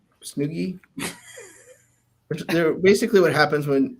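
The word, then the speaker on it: Snowgies: these called snookies Snuggies it rhymes with Boogie so snooky they're basically what happens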